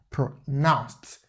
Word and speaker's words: pronounced: And then note this diacritic sound tells you that the word is stressed on the second syllable. So pronounced. Yeah, that's it. Unlike the other word, pronoun, that is stressed on the first syllable.